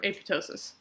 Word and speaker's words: apoptosis: and it'll kill itself apoptosis or apotosis if you say it how the Greek pronounced it but anyway apoptosis